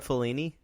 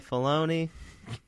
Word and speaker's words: Filoni: Did I say it wrong that time? I said it wrong. Man, I started. Fellini, that would be you a say huge Fellini, change to Star Wars. I say Filoni.